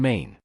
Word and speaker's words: 嗎: particle, and its pronunciation is based on ma. However, the tone shifts from the third tone of ma to a lighter tone in ma.